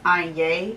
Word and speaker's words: Etienne: It's pronounced Etienne. It's a French designer.